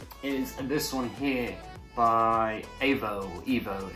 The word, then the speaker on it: Aevo: So the first massage gun is this one here by Evo. It's spelled A-E-V-O.